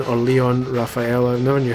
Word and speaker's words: Lion: Because his light is spelt Lion, but because he's French, I'm assuming it's Leon, just spelt wrong.